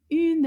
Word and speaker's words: une: Let's see if we can find combien de syllabes in the word une. Une. Just one. Il y a une syllabe dans le mot une.